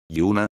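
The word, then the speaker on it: juna: Sobre la J, ya había dicho que se pronuncia como una I latina. Ejemplo. Yuna, que significa, joven.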